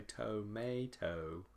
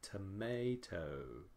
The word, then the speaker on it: tomato: from o to us so we don't say toe-may-toe we say tomato we say tomato tomato - it is short soft and lower in pitch tomato okay the second